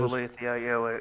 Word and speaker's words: Olathe: said, we stopped there on the southbound of Olath or Olathe or whatever that is. Olathe. Yeah. When I stopped there, I didn't call it by name because I couldn't pronounce it.